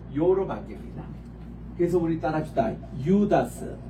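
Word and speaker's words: Ἰούδας: 들어가면 유 발음으로 변해요 요거는 오 발음 긴 발음인데 요게 장음으로 이타가 들어가면 요로 바뀝니다 그래서 우리 따라합시다 유다스 유다스 유다스 유다스 유다 주스 이할 때에 유다로 일으켰습니다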